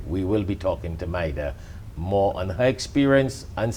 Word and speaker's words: Mayra: After the short break, we will be talking to, it's spelled Mayra, it's pronounced Maida, paralegal by profession, experienced in the immigration services, and she works as a liaison with Atlas Immigration Foundation.